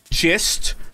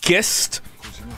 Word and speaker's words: gist: her and and tried telling her that it's pronounced gist not gist like 40 times and she still pronounces it as gist and i'm like honey it's just no no